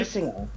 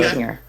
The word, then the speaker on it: Basinger: Basinger. That's how you say her name. Okay. Basinger. Basinger.